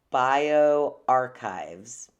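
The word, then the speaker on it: bioRxiv: from this website that's called bio archives bio archive which is spelled b i o r x i v and apparently there was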